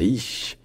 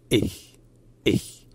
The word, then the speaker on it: ich: Donc ce n'est pas ich, c'est ich.